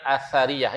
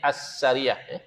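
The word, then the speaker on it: Athariyah: mereka adalah pertama golongan asariyah. Ditulis ini as-sariyah. Ejaan dia itu as-sariyah. Sepatutnya asariyah. Alif, sin, ra, ya, ta marbutah. Alif, sin, bukan sin, sa. Alif, sa, ra, ya, ta marbutah. Asariyah.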